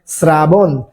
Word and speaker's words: শ্রাবণ: সরিকার বা দন্তা সরফালা যেমন দেখেন ই শব্দের বানানে কি রয়েছে শ্রাবণ শ্রাবণ বানানে কি তালেব সয়ে রফালা শ্রাবণ তো এই শ্রাবণ শব্দের উচ্চারণের ক্ষেত্রে কি হবে দন্তস রফালা আকার ব দন্তান্য এখানে একটা